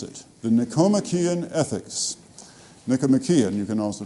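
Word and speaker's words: Nicomachean: Nikcomian. You can also pronounce it if you wish wish to.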